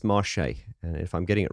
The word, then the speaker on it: Marsheaux: I'm pronouncing it wrong I've heard people pronounce it as marshaics and things like that but uh I believe it is Marche and if I'm getting